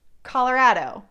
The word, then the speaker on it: Colorado: But how do we locals say Colorado? If you've watched enough of my videos, you may have picked it up. It's Colorado, Rado.